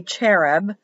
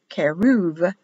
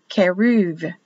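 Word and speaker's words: כרוב: in blue and b this will be pronounced as a v actually if there's no dot keruv keruv not cherub the this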